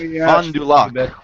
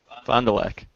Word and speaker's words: Fond du Lac: it's Fond du Lac, Wisconsin. Fond du Lac? Fond du Yes, Lac. yep. Very good. How do you say it? Fond du Lac.